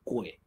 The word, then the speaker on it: 癸: 一般叫念癸水啦，但是其实它真正的发音是鬼，然后它本来的写法就是鬼字啊。